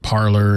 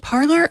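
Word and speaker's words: Parler: weaponized exactly exactly yes is it parlor or is it parlay I'm sorry it's ER I don't know if it's necessarily French like you can't imagine those folks using pronunciation well it's it's parlay is to speak so much yeah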